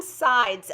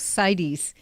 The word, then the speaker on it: Sides: point for me yes it's actually two syllables cydies oh cydies okay jans